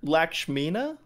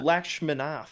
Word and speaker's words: Lakshminath: Lakshmina? Lakshminath? Oh, Lakshminath. Oh, shit. I didn't see the TH.